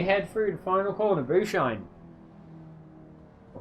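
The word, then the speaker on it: Bucine: Bushine. Or Buckine. I'm going to call it Bushine because that's how I think Italian is pronounced.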